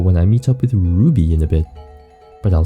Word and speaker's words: Ruby: It's Ruby. You gotta say it with the roo. Like, aroo.